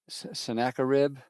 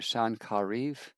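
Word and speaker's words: Sennacherib: Assyrians attack Jerusalem and King uh Sinakaribb is the anglicized way of pronouncing it or in Hebrew son Kariv.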